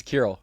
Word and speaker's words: Kirill: I How do you How do you pronounce It's It's How do you say it? It's Kurroll. I was curious to see if if you got it, but yeah, Kurill.